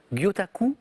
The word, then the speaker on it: gyotaku: Et là, on va parler du, corrigez-moi Lucas si je prononce pas bien, de cette technique japonaise Ouais. particulière d'estampe qu'on appelle le gyotaku. C'est ça, exactement. C'est ça? Ouais. C'est gyotaku? Ouais.